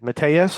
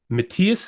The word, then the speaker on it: Matthias: you pronounce it properly Matthias hoose who spread okay yes I I was mispronouncing his name for months yeah yeah because it's that German inflection you're like huh it